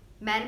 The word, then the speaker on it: mère: On E you can see accent grave is there, so it will be pronounced as train. Next, mère. Mère means mother.